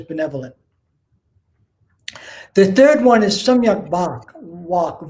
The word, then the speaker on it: Samyak Vak: The third one is Samyak Vak, V-A-K, but V in Sanskrit is pronounced like a W.